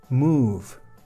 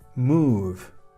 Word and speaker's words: move: Move. Move. Una O, una consonante y una E. Y además una consonante igual que la anterior. Antes era love, ahora es move.